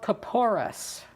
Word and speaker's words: kapores: did it it's called kapoor us it may have different pronunciations i think in one of the sudoers it ends with a th kapoor a--the ka ppor